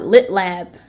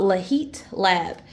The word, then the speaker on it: Leuchtturm: case um I know a lot of people pronounce that name wrong they call it lit lab or something but it's called Le heat lab um but anyway um